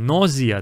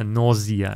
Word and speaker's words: nausea: Если там nausea, там у нас z, да? Nausea.